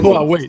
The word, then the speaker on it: Huawei: digo así pero bueno lo mismo es Huawei o Huawei es que no me sale así hay que ponerte como aparte en la entrada de Los Simpson se pronuncia Huawei se pronuncia Huawei pronox